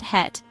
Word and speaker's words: het: In Dutch you say, hoe gaat het. Hoe rhymes with the English word who. Got sounds like hot with a soft G. Het is similar to the English word hut.